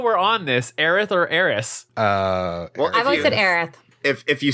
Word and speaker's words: Aerith: right now while we're on this arathor Eris Aerith if you say Eris then Aerith never died oh yeah well that changes everything I'll be honest III fluctuate but - I know it's Aerith but yeah Eris but either the translation made areas I know